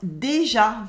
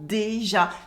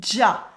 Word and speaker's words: déjà: Oh, and déjà is pronounced déjà. Very simple, déjà. The accent on the A does not affect its pronunciation.